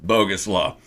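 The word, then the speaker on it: Bogusław: and yes it's just it's name just like it's spelled bogus law uh he was a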